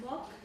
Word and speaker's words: MOOC: Donc les français, les francophones l'appellent le prononce euh moque. Donc ils disent qu'il se moque de la distance du niveau et cetera.